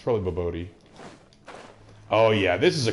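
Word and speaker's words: bobotie: Is I saying it right when I say bobotai, or is it boboti? It's probably boboti.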